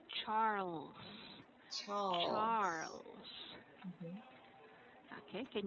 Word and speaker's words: Charles: What I'd like you to practice here would be the letter L because the letter L was not pronounced clearly. Mm-hmm. So it should be Charles.